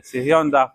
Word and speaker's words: صهیون: دغه غر خلق نن سبا غلط تلفظ کوي، سیهون وایي، حالا کې دا ها چې دا مخکې دا یا وروستو دا صهیون. سیهون ورته وایي، سیهوني جنګونه دي، سیهوني انقلاب دی. نه دا دغه دی صهیون، دا غر دی او